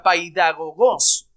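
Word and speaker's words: παιδαγωγός: La palabra griega se pronunciaría de esta manera, paidagogos.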